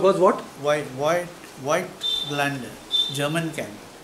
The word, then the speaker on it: Voigtländer: Voigtländer, German camera. How you spell it? V-O-I-G-H-T-L-A-N-D-E-R-O-N-D-E-R. Voigtländer.